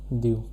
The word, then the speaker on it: du: It is pronounced as du.